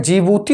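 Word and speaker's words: Djibouti: देश का नाम है jibhuti उसे प्रोनाउंस करते हैं स्पेलिंग लिखते हैं डीजी बूटी लेकिन इसको डेब्यू जी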